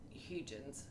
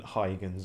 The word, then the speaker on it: Huygens: of my mispronunciations uh i'm not pronouncing it exactly properly but it's closer to hugen's than heightens or whatever the i